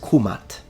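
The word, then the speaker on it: Kmt: to be precise then the correct and most likely pronunciation in ancient Egyptian specifically in classical Egyptian is kumat kumatu nominative kumata accusative and kumati oblique genitive now let's discuss this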